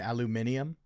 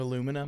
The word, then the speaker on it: aluminium: No, that one they add a syllable that's not in Aluminium.